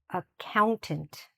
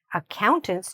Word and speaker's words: accountant: Say it after me, "accountant". So, where's the stress? The stress is here, in "count". Accountants do a lot of counting, alright?